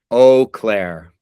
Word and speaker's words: Eau Claire: I don't know how to say it exactly, but Eau Claire. Eau Claire.